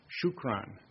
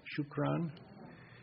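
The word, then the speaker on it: شكرا: it in Arabic excellent shukron can you say that shukron there will be a test at the end you can think of shoe Crown if you want whatever works out um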